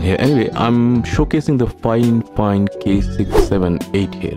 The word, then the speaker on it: FiFine: editor puts in here anyway i'm showcasing the fine fine k678 here it's pronounced fine fine although it's spelled by fine that's the weird